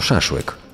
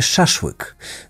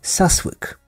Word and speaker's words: szaszłyk: potrafił wypowiedzieć głoski przy No i czemu miałby zniekształcić tylko pierwszy w słowie szaszłyk Dlaczego nie mówił po prostu Sas łyk prawdopodobnie Najmrodzki Najzwyczajniej nie wiedział że popełnia błąd w wymowie i Za nic w